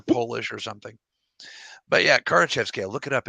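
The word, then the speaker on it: Kardashev: like Christmas is Carnage I was trying to pronounce a Russian name that I couldn't remember or polish or something but yeah current Chef scale look it up it's a really interesting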